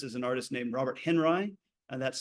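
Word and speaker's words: Henri: the most famous is an artist named Robert Henry and that's spelled h n r i and both glockens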